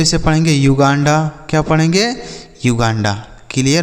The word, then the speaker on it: Uganda: UGANDA तो इसे पढ़ेंगे युगांडा, क्या पढ़ेंगे, युगांडा, क्लियर हो गया।